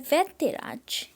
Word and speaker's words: वैद्यराज: तो देखिए ये संबोधन का साइन होता है, तो प्रोनाउंसिएशन में इसको 1 सेकंड के लिए रोका जाता है। ऐसे बोलते हैं वैद्यराज, वैद्यराज, ठीक है।